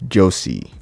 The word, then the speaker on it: jose: npm install Jose or Josie or something. I call it Jose based on where I'm from, where I'm at. So if it might be, you guys might pronounce it some other way, but it's npm install JOSE.